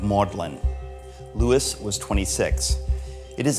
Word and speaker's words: Magdalen: here at modelin College named after Mary Magdalene but keeping its Middle English pronunciation of maudlin Lewis was 26 it